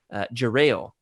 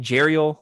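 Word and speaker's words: Jarael: love interest right and so apparently according to schuma Joe John Jackson Miller has got on the record in saying that it's Jerel I was saying jel like the mermaid you know um Everybody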